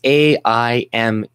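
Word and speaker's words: Aimé: It's AIME, with an accent aigu with an on the E, right? So it makes the A sound like aimer.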